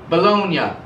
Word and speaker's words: Bologna: italy called bologna and they don't pronounce it baloney in italy they pronounce it bologna and it's spelled b-o-l-o-g-n-a